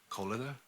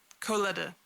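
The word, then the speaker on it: Koleda: the Bellabog Construction Company is led by, I always get her name wrong, Colida? Coletta. Coletta? Colida or Colida?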